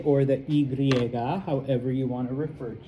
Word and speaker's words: y: the word and and it is pronounced like two English e's together e.